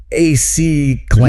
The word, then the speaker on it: acclamation: So your brain wants to go acclamation. Yeah, totally. I would done. But you've got to shift that stress. It's on the third syllable.